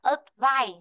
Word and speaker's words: advice: Nên là khi chúng ta đọc được advice, trọng âm sẽ rơi vào chữ phải. Còn chữ ớ không có trọng âm.